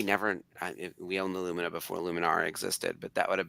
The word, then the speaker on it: Luminara: Like the Lum Like the uh old Chevy car. Yep. The Luminar. The Luminina. We talked about Aluminina earlier, too. Yeah. Um, Luminara and Aluminina.